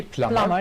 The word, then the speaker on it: plumber: advance pay in advance plumber is a person whose job is to repair water pipes toilets etc we noticed that b is mute we don't pronounce the b plumber yes plumber person whose job is